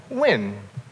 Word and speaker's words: Nguyen: Well, people tell me it's pronounced win. Like somehow N plus the word guy makes a W sound.